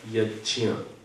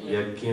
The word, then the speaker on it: यज्ञ: तो आप समझते रहिएगा जैसे मैं कहूंगा यज्य यज आप क्या बोलते यज्ञ बोलते हैं तो उसको ठीक कर लीजिएगा यज अब ये जो ज